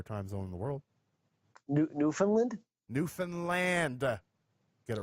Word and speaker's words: Newfoundland: Newfoundland? Newfoundland. Get it right. Oh, sorry. Oh, how do you pronounce it?